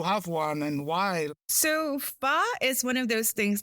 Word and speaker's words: pho: Yeah you mentioned like the right way to pronounce it is f the soup but far yeah okay I always say like four okay far yeah far so what I've read